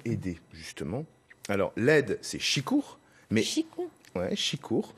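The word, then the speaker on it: sikour: Alors, l'aide, c'est chicour. Mais Chicour. Ouais, chicour, sicour. Après, ça dépend d'où on est exactement en Bretagne. On a plusieurs façons de prononcer, chicour.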